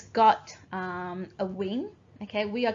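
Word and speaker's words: 午: bird and the mountain and your walker book good god you et/pt all right let's get the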